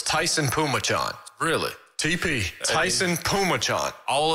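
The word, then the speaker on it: Phommachanh: i've looked it up so it's t-a-i-s-u-n that's pronounced tyson and p-h-o-m-m-a-c-h-a-n-h it's tyson pumachon really tp tyson pumachon all of that just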